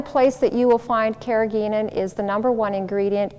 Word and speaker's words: carrageenan: msg or other excitotoxins carrageenan also some people pronounce it carrageenan carrageenan is uh it